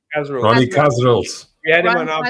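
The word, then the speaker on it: Kasrils: Ronnie Cas, how do I pronounce Cas? Ronnie Casil.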